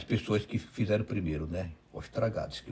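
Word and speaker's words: Ostrogradsky: Aí depois o primeiro, o que ia fazer a forma geral foi um ucraniano chamado Ostragradsky. Olhei a pronúncia assim, Ostragradsky, sobe do Os para o Tra.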